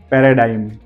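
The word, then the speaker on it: paradigm: होते हैं जहां पर जीके पीछे एम दिया गया है वहां पर भी हमें जी को साइलेंट रखना है पैराडाइन पी ए आर ए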